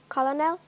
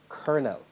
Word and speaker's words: colonel: and c ll rihanna pronounce the word which is spelt c OU l Oh N question passes yes please call it Colin L incorrect colonel Rihanna no by adding a prefix give the